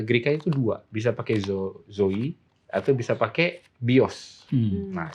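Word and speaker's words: ζωή: bacanya pendeta Zoe zo kalau orang ya para sarjana ya membacanya dengan Zoe Zoe tapi orang gre bilangnya itu Zoi zo Oke karena Ita itu I tapi any nah ini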